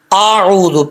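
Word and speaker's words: أعوذ: اعوذ، پہلے حمزہ کا ساؤنڈ، حمزہ کی آواز، پھر عین کی آواز، اعوذ، اعوذ، عین کو لمبا کرنا ہے۔ اکثر لوگ پڑھتے ہیں اعوذ باللہ من الشیطان، ایسا نہیں کرنا، حمزہ کو بھی کلیئر کرنا ہے، عین کو بھی کلیئر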